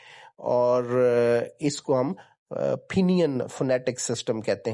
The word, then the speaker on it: Pinyin: Phonetic system जो है इसको हम फिनियन सिस्टम कहते हैं। लिखने को तो वो PINYIN है, लेकिन उसकी जो प्रोनाउंसिएशन है वो चाइनीज़ में फिनियन है।